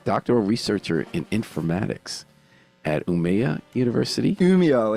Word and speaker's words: Umeå: he's now a doctoral researcher in informatics at Umeå University. Umeå, it's pronounced, but everybody Umeå.